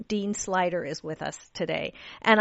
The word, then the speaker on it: Sluyter: say that Dean but it's actually pronounced slider Dean slider is with us today